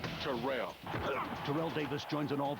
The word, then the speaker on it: Terrell: A member of the 2000yard club and it's pronounced Terrell.